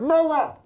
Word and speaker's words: Noah: Noah, as in Noah's Ark. Noah. Wait, now say it. Don't touch my person. I can't understand what you're saying. I'm being very clear. His name is Miller? Noah.